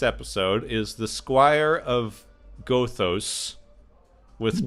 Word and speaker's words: Gothos: Next week's episode is the Squire of Gothos with 2 O's. So I think they've heard it say Gathos, but it's spelled Gothos. So it's like Otho from the Beetlejuice movie, except with more letters.